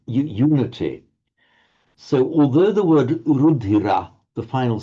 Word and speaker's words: rudhira: If you pronounce the word rudhira on its own, it's 3 light syllables, rudhira.